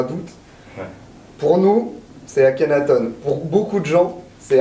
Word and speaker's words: Akhenaton: Et la prononciation correcte est On. Akhenaton. Mais Akhenaton, c'est la prononciation, on va dire, médiatico-française.